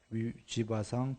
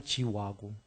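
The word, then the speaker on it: जीव: 지바도 지와고. 그러나 그냥 관습적으로 지와인데 지바 이렇게 하겠습니다. 영어 스펠처럼.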